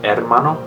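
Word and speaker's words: hermano: Mano which is brother you're supposed to It's pronounced Ed Mano but my sister calls me Mano for short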